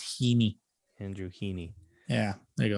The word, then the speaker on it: Heaney: Pronunciation Heeny. Oh, so, it's not Haney, it's Heeny.